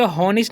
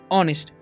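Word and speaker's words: honest: एन ई एस टी इसे होनेस नहीं पढ़ना इसे हम लोग पढ़ते हैं ऑनेस्ट ठीक है ए का यहां पर ए जो है साइलेंट रहता है तो इसे क्या पढ़ेंगे हम इसे हम पढ़ेंगे ऑनेस्ट अब आगे है जेंटल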